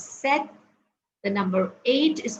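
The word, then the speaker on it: sept: three pronunciations the uh number seven is pronounced as Seth the number eight is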